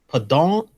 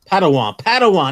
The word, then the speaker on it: Padawan: Short box, Padon. I can never pronounce that. Padawan. That's what it is.